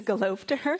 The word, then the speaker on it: Gelobter: it when people do not know how to pronounce my name that is the correct approach it's golov to her thank you so as many of you know